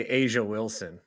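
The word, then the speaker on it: A'ja Wilson: I finally I finally learned how to say Asia Wilson it's big because I I mention all these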